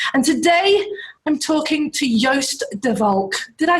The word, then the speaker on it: Joost De Valk: And today I'm talking to Joost De Valk.